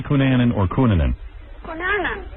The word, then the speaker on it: Cunanan: All right, how do you say Cunanan or Cunanan?